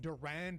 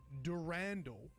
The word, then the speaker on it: Durandal: feedback about how I said it Durand, in the last video, and this ended up being a massive rabbit hole that I spent like over an hour talking about on stream. Actually, Bungie themselves pronounce it Durandal in their Marathon Forge